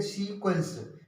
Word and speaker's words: sequence: क्यू यू आया है, इसलिए इसका उच्चारण क्वा पढ़ेंगे, क्वा। सभी में क्वा इसकी धुन निकल रही है।